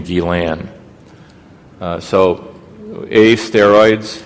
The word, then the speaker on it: Guillain: the Guillain-Barre syndrome and I'm sorry to tell your French teacher that this guy pronounced his name gilan so a steroids B